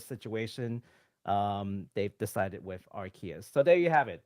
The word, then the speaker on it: Arceus: here's the kicker right the japanese name is actually arushius which sounds more like arceus and the only reason